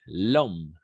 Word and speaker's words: l'homme: Voilà, exact, l'homme, n'est-ce pas? Oui, en effet, c'est le homme, n'est-ce pas? Mais parce qu'il y a le H muet et le voyelle, on va faire l'édition.